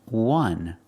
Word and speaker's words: one: is a vowel but the word is pronounced one w w w one W is a consonant sound so phonetically the first